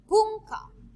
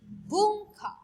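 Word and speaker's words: ぶんか: Next, bunka, bunka. Bunka means culture. Okay? So that is how you gonna pronounce N in different ways.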